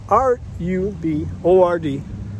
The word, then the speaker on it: RUBORD: The other hashtag that a lot of people ask me about is R-U-B-O-R-D. I pronounce it RUBORD.